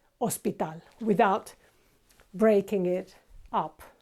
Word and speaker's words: hospital: like this it's not hospital it's Hospital okay as you know H is silent so we don't pronounce it it's just Hospital now